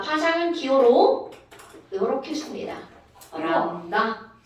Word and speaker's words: 람다: 람다. 람다. 세모 아니야. 들립자. 한자 들립자. 람다. 람다라고 읽어.